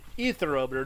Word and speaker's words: Aetherometer: It is etherometer, not aether. Trip constantly reminds me of that. Etherometer. The A, you don't pronounce the A.